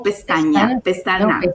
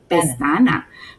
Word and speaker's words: Pestana: Estoy pronunciando bien, ¿es Pestana o Pestaña? Pestana.